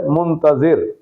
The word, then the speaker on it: منتظر: میں پہلا لفظ ہے منتظر۔ اس لفظ منتظر کے زوئے کے نیچے زیر ہے۔ منتظر کا معنی